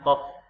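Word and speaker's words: ق: Ini bacanya kof, ya. Ko bukan ko. Ini ko ini ketika dia berbaris. Berarti ini kof. Fa sama ko. Latinnya adalah F, sedangkan kof adalah Q.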